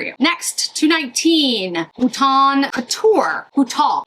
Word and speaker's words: bouton: Bouton. I know I'm not supposed to pronounce the N.